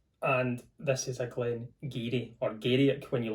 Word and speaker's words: Garioch: When you look at it, you think it says Garioch, but it's Garioch. It would definitely catch you off if you'd never seen it before or someone hadn't told you how to pronounce it.